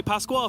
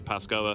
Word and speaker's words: Pasquale: for this entire series i'm going to say pasquale for this entire series the official verdict is he doesn't mind it's just i asked him way back in like 2015 how to pronounce it and that's what he told me so that's what i've been stuck with since then a lot more people these days say pascal it's not a big deal in case you're confused